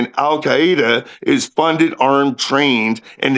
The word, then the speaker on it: Al-Qaeda: Al-Qaeda, not Alqaeda.